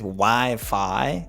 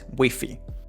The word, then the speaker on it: Wi-Fi: In English, it's Wi-Fi, in Spanish, Wi-Fi.